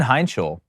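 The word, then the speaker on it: Heintschel: Mason Heinschel, for what he's done coming in at Pitt, and yes, I did pronounce that right, if anybody was wondering.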